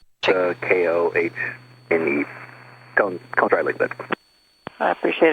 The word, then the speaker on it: Koehn: We always spell it with Cone with a K, but we'll verify. Yeah, it looks like KOEHN, I think is what it says. KOHNE, Cone dry lake bed.